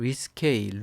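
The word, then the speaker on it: risqué: sk 라는 단어가 있습니다 발음을 위 스 케 이렇게 하고요 강세가 뒤쪽에 가는 이런 당하죠 그 다음에 어 2wd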